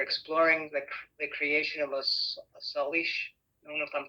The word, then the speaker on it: Salish: We're exploring the creation of a Salish. I don't know if I'm pronouncing it. Salish Sea.